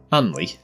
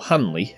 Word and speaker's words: Hanley: Anley, or Hanley if you're posh, or not from round here, once one of the